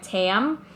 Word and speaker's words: Tâm: pronunciation easier for everyone I always went by Tam cuz it sounds enough like Pam or Tammy whatever so I'm always